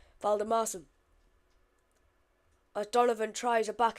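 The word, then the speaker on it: Valdimarsson: I found out at half time that is how you say his name. Valdemarson.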